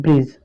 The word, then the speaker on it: bridge: जैसे एग्जाम्पल है हमारा BRIDGE, इसको क्या पढ़ेंगे, ब्रिज, है ना। इसको ब्रिज नहीं पढ़ेंगे, इसको क्या पढ़ेंगे, ब्रिज। यानी यहाँ पर आपका जो ये डी है क्या है, चुप है, साइलेंट है।